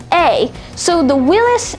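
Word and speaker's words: Willys: did this was called willis and this is willis spelled w-i-l-l-y-s so that's interesting now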